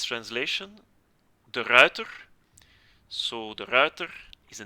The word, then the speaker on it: De Ruiter: You have to pronounce it as it is written. But with the rolling R in English, yeah, the R is pronounced as a W, so the router or the router is, I think, the closest I can come. You know, a router like a network device.